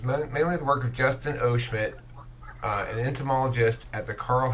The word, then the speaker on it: Justin O. Schmidt: Would you say his name was Justin O'Shit? Justin O. Schmidt.